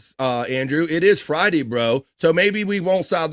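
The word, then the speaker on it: Breaux: His name's Joey Bro. Joey. B R E A U X. You spell it like the old cinjun or bro.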